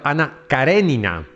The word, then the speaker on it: Karenina: Ana Karenina o mejor pronunciado, Ana Karenina, que mantendría ocupados a escritores y lectores hasta su conclusión en 1877.